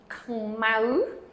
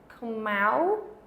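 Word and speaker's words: ខ្មៅ: And this just has a K sound and then an M, khmau, ooh, khmau. And the mau is the accented symbol.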